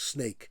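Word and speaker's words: Sneek: It's s nek, and we pronounce it also as snake.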